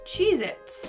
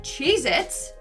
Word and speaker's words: Cheez-It: number nine we have cheez-its but apparently that tasty cheese cracker is not called cheez-its it's cheez-it either i've been saying